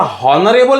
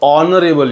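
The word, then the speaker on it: honourable: Spelling जरी एचने सुरू झालं असेल पण उच्चार काय येतो, उच्चार असा हॉनरेबल येतो की ऑनरेबल येतो, तर तो ऑनरेबल येतो, ऑनरेबल.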